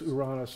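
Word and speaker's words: Uranus: that stuff but anyways that's iran-us in greek mythology so that's how you say it so don't make any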